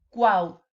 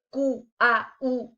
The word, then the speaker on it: Cuauhtémoc: Cuauhtémoc. Es decir, sería incorrecto decir Q-A-U-T-moc. No es Cuauhtémoc.